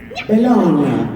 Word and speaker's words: Bologna: GN, the GN combination in Italian makes a gnon sound. Bologna, lasagna.